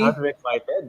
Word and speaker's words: Unrequited: pronounce it correctly? Unrequited.